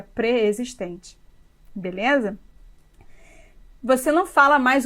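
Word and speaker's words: preexistente: Por exemplo, temos mania de falarmos pré-existente, mas a palavra se escreve junto e a pronúncia seria pré-existente.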